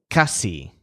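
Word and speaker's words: casi: too high for him Joel's word for almost is Cassie and so the stress is on cus like cost let's keep moving down we've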